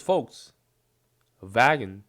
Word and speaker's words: Volkswagen: is a v Volkswagen I'm going to try pronounce Volkswagen this literally means people's car or car of the people oh because folks vagon it's like a wagon folks wagon so folks folks people wagon means you know